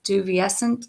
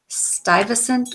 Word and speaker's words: Stuyvesant: name right but it's I always feel like it's juvie essent and that's not how you say it in Dutch it's Stuyvesant or uh uh Miller